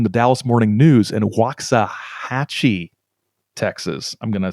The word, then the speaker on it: Waxahachie: a correspondent from the dallas morning news in waxahachie texas i'm gonna say that's how you pronounce it um spoke with a judge who